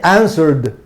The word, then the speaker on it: answered: Una consonante sonora y no termina en D, por lo tanto se pronuncia como D, ¿ok? Answered, ¿ok?